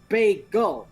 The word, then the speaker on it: bagel: Can you say gull? As in seagull. Gull. Okay, now just put them back to back. Bay gull.